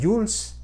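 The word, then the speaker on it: joules: el trabajo se mide en howletts pronunciándose jules así un jules equivale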